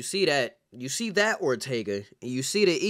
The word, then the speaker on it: Ortega: as you all know my name is pronounced Ortega Ortega I don't I don't